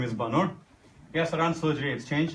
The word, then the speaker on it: Bannur: last name is Bannur.